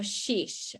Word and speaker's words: xis: Okay, so the first one, all right, we have sheesh. All right, it's XIS, but it's pronounced sheesh, something more or less.